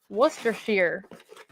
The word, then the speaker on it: Worcestershire: Oh, somebody says it's pronounced Worcestershire. Worcestershire.